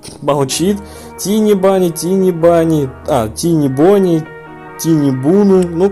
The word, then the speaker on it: Tiny Bunny: Правильно будет Tiny Bunny, но никак не Тини Буни.